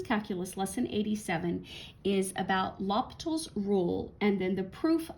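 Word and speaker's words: L'Hôpital: French mathematician and so his name is pronounced uniquely not exactly as it looks like it should. So the H is extremely silent lapal.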